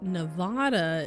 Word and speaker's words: Nevada: like Nevada is I guess technically more correct based on the Spanish Spanish pronunciation, but it's no different than people saying stuff in the south or northeast wrong.